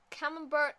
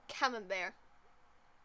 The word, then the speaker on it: Camembert: Camembert is type of cheese. Or camembert. I keep pronouncing the T for some reason.